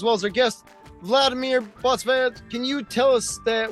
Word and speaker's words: Botsvadze: as our guest Vladimir Botsvadze. Can you tell us the website one more time, Vladimir? botsvadze Oh, botsvadze. Okay. Now, the Z is pronounced.